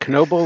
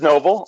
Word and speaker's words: Knoble: that one just but you don't you don't pronounce it knoble like evil um the telemarketer is pronounced at